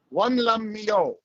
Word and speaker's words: Won Lum Meow: And in my broken Cantonese Sayip pronunciation, it is Wan Lam Mio.